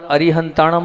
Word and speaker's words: अरिहंताणं: हूं क्योंकि अर हंता अरिहंताणं और अरु हंता में जो है आप ना बोलते वण है क्या है ण ण का उच्चारण आप लोग नहीं करते हो जबक ण का उच्चारण